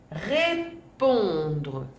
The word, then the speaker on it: répondre: Et pour terminer, un autre verbe, répondre, répondre.